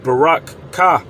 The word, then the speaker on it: Berakah: And I believe the correct way to pronounce it is Barak-Kah, which means you're blessed.